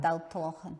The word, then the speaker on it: Daltallochan: Aye, I'm going to butcher the pronunciation, the Daltalochan. That's not too bad, Daltalochan, yeah, it's not too bad.